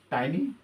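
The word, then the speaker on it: tiny: आप लोग स्कूल में कुछ लोग टाइनी पढ़ते हैं, कुछ लोग टीनी पढ़ते हैं, ठीक है। तो that is doesn't matter, pronunciation के ऊपर डिपेंड करता है, लेकिन यहाँ पे मैं टाइनी बोल रहा हूँ कि ज़्यादातर लोग टाइनी बोलते हैं, कुछ लोग टीनी बोलते हैं, कोई प्रॉब्लम नहीं, ठीक है।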